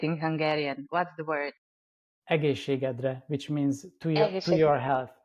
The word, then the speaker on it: Egészségedre: Egészségedre, which means to your health.